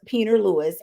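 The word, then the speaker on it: Pieper Lewis: So, Iowa teen, her name is pronounced Peter Lewis, a 17-year-old human trafficking victim, has been sentenced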